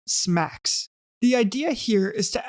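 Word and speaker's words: SMACSS: scalable and modular architecture for CSS pronounced smacks the idea here is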